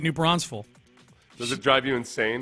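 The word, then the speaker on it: New Braunfels: you're not from Texas that's not how it's pronounced no oh I'm sorry I pronounced it the way the people from the actual place pronounce it Amy Texas Amy Amy doesn't get jerky about it but she pronounces it new bronze full does it drive you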